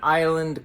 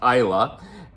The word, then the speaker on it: Islay: So we boarded the bus tour to an island called Islay. Despite how it's spelt in English, it's pronounced Isla.